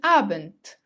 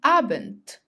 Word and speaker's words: Abend: till 11 p.m., you say Guten Abend, Guten Abend, which means good evening. Note here that if the letter D comes at the end of the word, it is pronounced as T, T. Guten Abend.